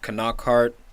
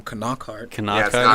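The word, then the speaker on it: Knockaert: I'm calling him Knockart. No, it's not silent. It's weird. They all call him Knockart.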